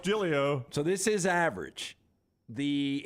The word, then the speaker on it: Joe Giglio: Looks like Giglio, pronounced Giglio.